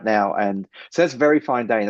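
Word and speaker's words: Ver.Fineday: he's over there right now and so that's very fine day and it's spelled V E R dot F I N E D A Y. So it looks like Ver fine day, but it's pronounced very fine day.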